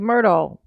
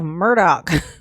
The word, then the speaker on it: Murdaugh: He said Murdaugh. That's right, because that's how it's pronounced. I mean, that's how it's spelled. It's spelled like Murdaugh. But he keep calling himself Murdoch. Like, you are not a Murdoch. There's no C, okay? There ain't no C and there ain't no K. Okay?